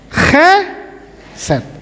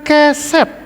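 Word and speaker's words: חסד: Chesed, bacanya jangan keliru, harus chesed, bukan keset.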